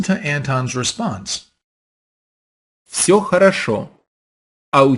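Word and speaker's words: всё: can just say sure so if I were to spell that out using English letters I would spell it with an F and s a Y and an O Co listen to the native speaker sure so depending on the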